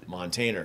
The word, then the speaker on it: Montainer: it looks like dictionaries like montaner pronounced montaner yeah the definition is is